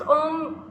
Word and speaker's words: ओम: this we do fine so हाउ we pronounce ओम like in humming sound we will do that